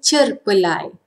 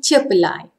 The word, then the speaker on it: cerpelai: Formal pronunciation, cerpelai. But informal pronunciation, cerpelai, cerpelai. R is hardly audible.